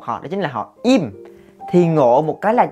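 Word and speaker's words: 임: chỉ có một họ đó chính là họ Im. Thì ngộ một cái là rõ ràng chữ này là chữ Y và M, là Im ghi là Im đi, mà người thích phiên âm là chữ Lim mình cũng chẳng hiểu tại sao.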